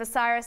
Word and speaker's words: Bucyrus: you know and now we know how to pronounce that name osiris so just give us your view on spain